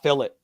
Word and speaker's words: filet: you know the word filet right yeah that's a french word you know the british say it fill it just to piss the french off that's how big of